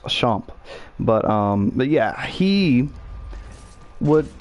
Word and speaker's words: Duchamp: can look it up Duchamp do you champ but it's pronounced a shop but but yeah he